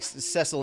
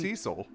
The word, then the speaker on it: Cecil: cesil like needs to like cesil and his organization steps in I'm 99% sure it's Cecil I don't know you're you're correct I I I just think I'm thinking about it phonetically and maybe I'm conflating it with Sideshow Bob's brother uh but uh Cecil